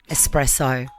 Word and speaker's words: espresso: related espresso I'm sorry there is no X in espresso I get mad when